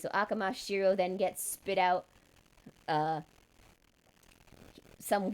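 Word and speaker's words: Amakusa Shirō: it yeets out Shiro, Akamasa Shiro. I'm saying it in the way it's pronounced in Japanese. So Akamasa Shiro then gets spit out.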